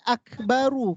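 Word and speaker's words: أكبر: dia Sukun contoh kalimat akbaru kalau ibu berhenti Gimana cara bacanya Yang ini barisnya dimatikan kan ibuak us benar kalau dia berhenti barisnya disukunkan Ibu Kalau berhenti bacanya akbaru atau Akbar Akbar ya rnya jadi sukun mati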